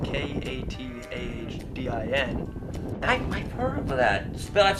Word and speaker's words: Katahdin: Well, we raise Katahdin Sheep, and that's spelled K-A-T-A-H-D-I-N.